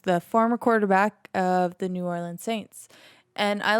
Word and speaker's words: New Orleans: one is ensuring that new orleans or new orleans i should say it properly is safe following hurricanes